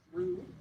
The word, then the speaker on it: Rudd: So, we have been told that uh Jacob Rudd should be pronounced Rude.